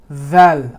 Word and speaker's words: dhal: The dhal is coming out like that, but this tip is actually touching your molar. Okay? Dhal, underneath the molar. Dhal, dhal. That's how you pronounce that letter.